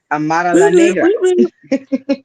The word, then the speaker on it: Amara La Negra: Amara La Negra.